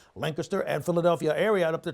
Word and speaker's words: Lancaster: Now, that's because there's an air quality alert up towards the Lancaster, say it correctly, Lancaster and Philadelphia area up there towards New York, just north of our area.